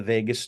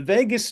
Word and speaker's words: vagus: story which is that the word Vegas isn't spelled like Las Vegas it's vagus v a s which in Latin means